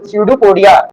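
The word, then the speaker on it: pseudopodia: क्या बोलते हैं, स्यूडोपोडिया, पी साइलेंट होता है, स्यूडोपोडिया।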